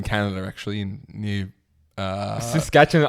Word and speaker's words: Saskatchewan: Um Saskatchewan's in Canada actually in New uh Saskatchewan. I don't know if that's the right pronunciation. It is. It is.